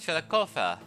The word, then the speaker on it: Chillicothe: on the city of Chillicothe. Or, I believe in Shawnee it's actually pronounced Chillicothe.